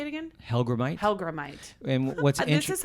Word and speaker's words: Hellgrammite: Char how do you say it again helite helgramite and what's this is how ridiculous I am